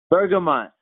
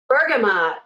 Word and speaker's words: bergamot: and a little hint there's actually two pronunciations in English that are acceptable Derek I know I can put you on the spot maybe knit tunic hey bergamont Bergama you got it and